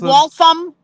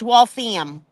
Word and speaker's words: Waltham: It's not Waltham, it's Waltham. Like the ham. Waltham. Park the car, Waltham.